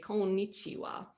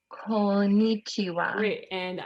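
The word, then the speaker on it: こんにちは: and you would say konnichiwa konnichiwa you caught me saying this long end sound here right so this is one of those spaces where that is its whole syllable and oh i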